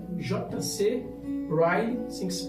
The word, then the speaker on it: Ryle: Ryle, assim que se pronuncia, chamado Santidade.